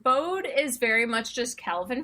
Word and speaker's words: Bode: was like hold up b-o-d-e what is that spell bode there's no y this is english if i spelled b-a-s-s i could just claim whatever you pronounce that as was wrong um yeah so that was that was the first thing you stuck with the show and then sometimes they do say bowed instead of bodhi and i'm like what